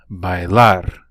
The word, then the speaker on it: bailar: ski are to ski notice that I stressed that last syllable on these verbs bailar escuchar música practicar des